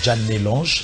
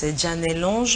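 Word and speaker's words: Djanel'ange: Elle s'appelle tout simplement Janet Lange.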